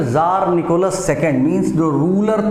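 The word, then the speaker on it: Tsar: तो Russian empire in 1914 में ज़ार Nicholas second, means जो रूलर था उसका नाम था ये रूलर का नाम है, जो रशिया का रूलर था, ज़ार, ये टी साइलेंट है, ज़ार Nicholas second ruled Russia and it's empire.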